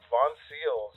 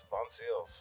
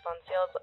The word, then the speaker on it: Voncille's: you can check us out on our Instagram Von seals v o n c i l l s Von seals whenever I was inviting you on the show I was like I'm going to mispronounce vones a thousand times everyone does it's totally cool